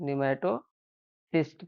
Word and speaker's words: pneumatocyst: निमेटोसाइट नहीं न्यूमेटो fist कहते हैं। क्या कहते हैं? न्यूमेटो सिस्ट के नाम से इसको जाना जाता है।